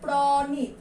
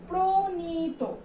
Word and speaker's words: প্রণীত: উচ্চারণ আমরা প্রণীত করি, আমি যদি বানানটাই উচ্চারণ করি সেটা কি হচ্ছে প্রণীত, কিন্তু আমরা কি উচ্চারণ করি, প্রণীত।